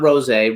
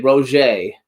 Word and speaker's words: Rogge: Rosé is French. Not Rosé, Rogge. Oh, Rogge. With a G. R-O-G-G-E, but it's got the little apostrophe at the end.